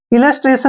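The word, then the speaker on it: illustration: में भी क्या है इलस्ट्रेशन में टी के बाद आई ओ आया है जब भी टी के बाद आईओ आता है तो टी का प्रोनाउंस हम स करते हैं इसलिए इलस्ट्रेशन प इसको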